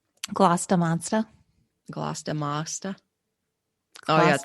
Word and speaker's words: Gloucester: i agree how should we say that's where it rhymes gloss da monster gloss demasta oh yeah end sound and